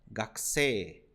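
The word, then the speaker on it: 学生: Então a pronúncia dela é gakse, gakse. Olha só, gakse. Lembrando que aqui, ó, essa sílaba aqui, ku, você não vai pronunciar igual um famoso palavrão da língua portuguesa, porque a letra U do japonês não é U com biquinho, e sim U. Então, gaku, gaku, gakse.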